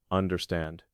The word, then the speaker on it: understand: The word understand stresses the last. Understand.